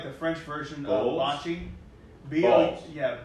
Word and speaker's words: boules: This last one I got was a set of bowls. So it's kind of like the French version of bocce. Boules. B-O-U-L-E-S. Okay. Is how it's spelled, but bowls.